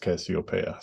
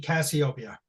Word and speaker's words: Casiopea: It's based on the constellation, and I think that's pronounced Casiopea.